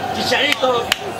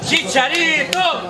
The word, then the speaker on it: Chicharito: I'm going to Chicharito! Chicharito!